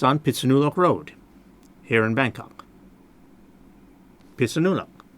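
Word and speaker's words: Phitsanulok: I mean each kind of sound grouping, like pit, su, nu, lok, pitsanulok. 4 syllables.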